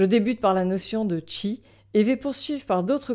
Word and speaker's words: Qi: On le prononce chi en chinois, qui en japonais.